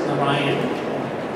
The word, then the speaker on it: Narayan: So my name is Narayan, it's pronounced Narayan, and I'm one of the city council members from Eden Prairie.